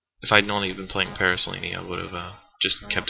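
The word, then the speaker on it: Paraselene: Paraslini. That is actually the correct way to pronounce it, surprisingly.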